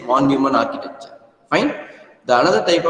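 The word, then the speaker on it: von Neumann: pronounced as f n because it's a German word okay the pronounce ation must be F nman architecture or else you can simply say it as one Newman architecture okay so in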